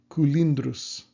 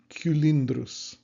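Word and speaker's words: cylindrus: And finally, I found a couple words that are supposed to have this U pronunciation. So I believe it's like cugnus, cugnus, and culindrus, culindrus.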